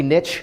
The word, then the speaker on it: niche: Rhymes with rich.